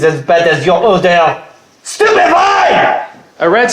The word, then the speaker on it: Stupefy: Stupify. Nothing happens. Your pronunciation is as bad as your order. Stupidify.